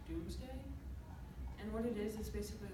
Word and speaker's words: Domesday: It's pronounced Doomsday. It's really weird spelling. It doesn't have two O's in it though? No. It's pronounced, it looks like Domesday, but it's actually pronounced Doomsday.